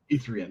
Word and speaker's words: E3N: Letter E, number 3, letter N. E3N. That's how I pronounce it.